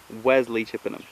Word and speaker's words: Wesley Chippenham: Okay, that's how you pronounce it. Wesley Chippenham.